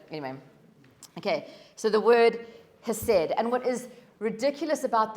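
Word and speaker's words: חסד: from this word, is it's spelt hesed, H-E-S-E-D, but I think you pronounce it chesed.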